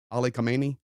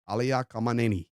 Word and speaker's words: Khamenei: I know we say Ali Khamenei, but that's not how you say it. You say Ali Khamenei.